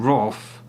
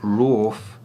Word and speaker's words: wrath: So when I see a bunch of people saying wroth and not rawth, as though it were an alternative way of saying wrath, it really bugs me.